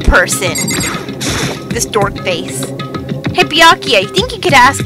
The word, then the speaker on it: Byakuya: Bakula! Sorry, that's funny. It's Byakuya.